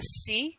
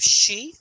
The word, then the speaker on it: she: So I've noticed you are having a little bit of trouble saying sh and v, as in you're saying C instead of she, and fi instead of five.